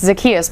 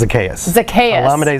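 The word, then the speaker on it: Zaccheaus: because i want to see if you can pronounce the first guy there olamide and the last name you'd think it's zacchaeus but that makes me think that's close it's a laminate zacchaeus it's a chaos a chaos i should have known that whatever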